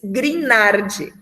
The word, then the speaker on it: Grignard: E compostos de Grignard, aqui na hora da pronúncia, a gente não pronuncia o G, tá? A gente diz Grignard.